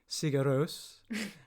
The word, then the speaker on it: Sigur Rós: Like, because the first thing I knew about Iceland was music, Björk, Sigur Rós, or here comes the first pronunciation, Sigur Rós.